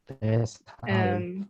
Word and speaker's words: deshalb: you pronounce it Deshalb.